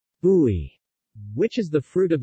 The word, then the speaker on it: bouy: Popular fresh juices are made from bissap, ginger, bouy, pronounced bouy, which is the fruit of the baobab tree,